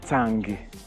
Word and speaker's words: Tsagé: Mon nom, Tsagé, on prononce ça en langue yemba, Tsangé, qui signifie celui qui a pitié des gens.